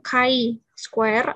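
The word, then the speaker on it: chi-square: Ini bacanya C kuadrat ya, bukan X kuadrat, walaupun simbolnya mirip X, tapi sebenarnya itu bukan X. Bacanya kadang chi square atau C kuadrat 0,95 ya, karena 1 dikurang 0,05 adalah 0,95.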